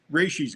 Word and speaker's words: Rashee: How do you pronounce it, Mike? Rashee's good. Rashee.